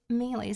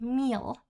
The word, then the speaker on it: melee: And I pronounced um uh these are like melee skills. So I pronounced this as meal meal combat. So So I pronounced that wrong too.